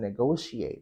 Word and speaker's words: negotiate: So, stress issue comes up when you're pronouncing negotiate as well. So it's go, negotiate, not negotiate.